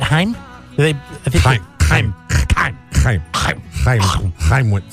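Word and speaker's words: Chaim: Gene Simmons is Haim wits how do you pronounce that in the Jewish language in Israel CH a I am said Haim they buy some time with some anyone said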